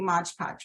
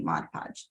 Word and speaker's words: Mod Podge: everything together right so it seems like it should be Modge Podge but it is actually Mod Podge so FYI all right